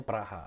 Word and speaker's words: Praha: raksasa Liga Ceko Slavia Praha Prague tulisannya dibacanya Praha atau rekan dari pemain Anyar